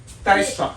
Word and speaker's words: Dijkstra: So, today we're going to talk about this very famous, the shortest path algorithm called Dijkstra. How do you pronounce this? Dijkstra algorithm.